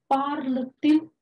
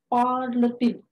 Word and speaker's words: parle-t-il: So inverse it, parle-t-il français with hyphen. So here, parle is ending with T consonant and il is starting with vowel. So there is a liaison and pronunciation is parle-t-il.